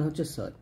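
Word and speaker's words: حاء: নিয়ে আসবেন ওয়াও এরকম ওয়াও এর গাণিতিক মান হচ্ছে যা যার মাখাজটা হলো জিহ্বার আগা সামনে নিচের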